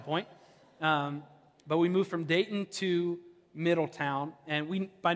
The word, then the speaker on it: Dayton: You know someone's from Dayton when they don't pronounce the T. It's Dayton.